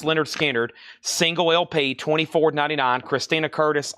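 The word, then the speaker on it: Lynyrd Skynyrd: And then we have one Leonard Skard pronounced Leonard Skard single LP $24.99.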